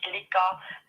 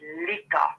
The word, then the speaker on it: Leica: Yes, that is Leica. Um, a lot of people say Leica, but actually you pronounce it Lea, but it doesn't matter. Yeah, it doesn't matter here.